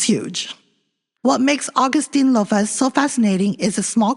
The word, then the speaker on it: Augustynolophus: Later named Augustynolophus maurici, pronounced as Augustynolophus.